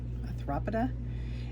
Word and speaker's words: Arthropoda: is our arthropoda, that's how you say it, arthropoda.